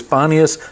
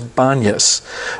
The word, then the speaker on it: Banias: But because Arab folk or some Semitic folk cannot pronounce the P's, it comes out as a B. So sometimes you see it as Banias, sometimes you see it as Banyas.